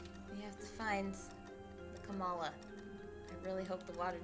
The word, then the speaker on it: Kamala: I'm like purposefully trying to say it wrong, but then at the same time trying to remember what pronunciation of Kamala is Kamala Harris's. It's Kamala.